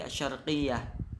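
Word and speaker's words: الشرقية: Jadi bacanya kada asyarqiyatu tapi asyarqiyah.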